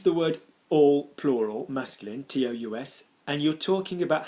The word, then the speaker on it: tous: Then you will not pronounce the s.